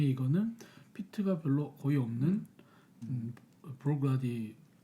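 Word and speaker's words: Bruichladdich: 일단 브룩나딕, 저 발음이 어렵네요. 브룩나딕? 브룩라디더라고요. 브룩나디. 브룩라디. 브룩나디. 발음 어려워요. 그때 그 알려주신 How to Pronounce 그 아. 아저씨가 그러니까 브룩라디 끊어서 일단 브룩라디.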